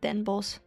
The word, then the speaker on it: Den Bosch: And then it also doesn't help that literally no one in the Netherlands calls it that, and we just call it Den Bosch.